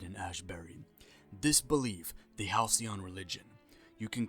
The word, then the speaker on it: Halcyon: One of them being the Halcyon religion. I finally said it right. I remember in The Outer Worlds review I said Halcyon like a idiot because I